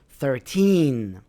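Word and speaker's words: thirteen: So, the stress is on the second part of the word. 13.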